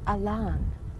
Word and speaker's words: Allan: one who came down his name was spelled Allan pronounced Elan he got a lon